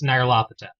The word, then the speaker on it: Nyarlathotep: the major characters, and according to that guide, it's Nyarlathotep.